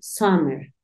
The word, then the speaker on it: summer: Son, sun, summer. También depende en el lugar que estés. Algunas personas tienden a pronunciarla más como una A, como una O, pero te vas a dar cuenta cuando realicemos nuestros ejercicios de listening que suena algo como summer, como si tu intención fuese decir una A, pero terminas diciendo una O.